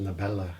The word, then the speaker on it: Novella: in between and it might be actually pronounced nobella because v's and b's gonna get mixed up and then you're supposed